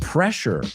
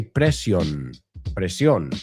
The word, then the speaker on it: pressure: We looked at the word pressure in the audio. Pressure. All right. Just be careful. I've heard a lot of students say pre, right?